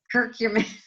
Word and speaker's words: curcumin: So on Adrian's advice, actually, I just ordered today some curcumin. Is that how you pronounce it, Adrian?